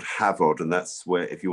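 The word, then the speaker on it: Hafod: made into cheese on the farm cheese called havod and that's where if you want to follow us at the farm it's at havoc cheese which is uh welsh by the way h-a-f-o-d pronounced v havod and um we've been trying to farm sustainably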